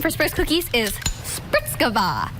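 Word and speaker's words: Spritzgebäck: and from the name for spice cookies is spritz kava it's like - spelled spritz ge back so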